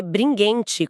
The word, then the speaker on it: Bringhenti: Eterna, do autor Márcio Bringente. E vale uma nota super rápida de pronúncia aqui, o sobrenome se lê Bringente, com esse som de guê mesmo.